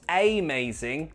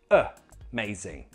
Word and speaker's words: amazing: Or this word has three syllables. The middle syllable is stressed, may. So the first syllable has a schwa sound. Not amazing, no, it's amazing. Amazing!